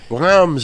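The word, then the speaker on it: Reims: yeah re R yeah yeah Rams that's how you say it forgive me it's got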